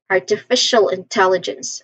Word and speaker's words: artificial intelligence: And then we end with Jens. Jens like um we say it as Jens with a letter J sound and a short a sound and ending with a hissing sound s.